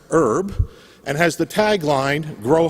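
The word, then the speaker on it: URB: raising funds for it spelled you our be pronounced herb and has the tagline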